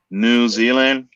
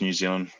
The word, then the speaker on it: New Zealand: just here you guys you guys put the more emphasis on the new yeah new zealand where it's just new zealand we say it like one word we talk fast